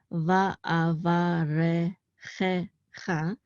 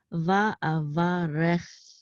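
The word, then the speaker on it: וַאֲבָרֶכְךָ: So, and I think most people would pronounce this as va'avarechecha, but that's not correct. You should not pronounce the shava. It's va'avarecha.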